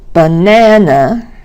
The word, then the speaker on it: banana: Banana has the second syllable stressed, and kangaroo has the last syllable stressed.